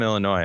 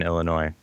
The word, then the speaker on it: Illinois: be here I think it's Galina actually from Illinois you're probably right is that right lot of lot of places that are pronounced weird in Illinois pronounced them weird Illinois did nothing just lean